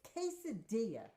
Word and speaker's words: quesadilla: God it's not my you don't even say it right it's quesadilla not cadas listen quesadilla you snorting